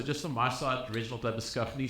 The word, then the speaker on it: Labuschagne: my side, Reginald Labuschagne, still Labuschagne, although I've been living in Cape Town for a while. I see some of my namesakes in Australia have changed the way we pronounce our surname, but still the traditional way.